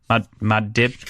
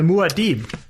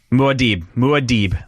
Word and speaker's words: Muad'Dib: Anyway, it's Maudib, Maudib.